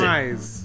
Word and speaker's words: Schweiz: This word means Switzerland. And it's pronounced Schweiz. Which Schweiz? Okay, I'm so far off. I guess it's pretty close to how you pronounce the country's name in German. But a lot of Swedes actually pronounce it Swage.